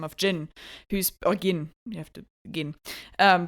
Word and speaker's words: Gin: of Jyn, who's or Gin. You have to Gin. Um, but spelled like Jin, but pronounced Gin.